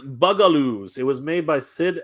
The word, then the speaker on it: Bugaloos: It's pronounced Bugaloos.